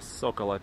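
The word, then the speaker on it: Zócalo: То есть, если вам нужна центральную площадь, в поисковике вбивайте Соколо. Но пишется она через букву Z, но читается как S.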